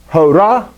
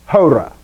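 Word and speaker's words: ὥρα: So it's not hora, it's hora.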